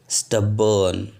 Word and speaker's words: stubborn: स्टबर्न पहा, spelling STUBBORN. R silent आहे.